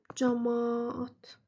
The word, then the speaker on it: camaat: Yəni birincisi camaat. Hətta biri düşəcək, biri uzun tələffüz olunacaq.